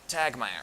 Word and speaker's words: Tagtmeyer: last name for me tag my er so that second T is silent it's just there to throw people off well I mean it's